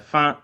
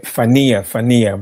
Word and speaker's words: Fania: No, actually, my name is Fania, but I just call it your Fania.